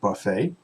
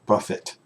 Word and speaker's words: buffet: the amenities are breakfast buffet right that's buffet not Buffett it's buffet the the tea Athene does not pronounce it's silent so it's buffet outdoor pool self-parking free